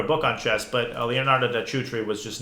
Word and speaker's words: da Cutri: But he played a guy named da Cutri, I think it's pronounced. C in Italian is ch.